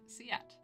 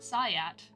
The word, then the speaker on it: SIAT: Like that. Like how I just said it. Siat. Siat. Not Sayat.